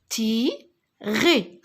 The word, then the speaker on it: tirer: A, T avec I, tirer. Alors, ER, j'ai dit que je le prononce E.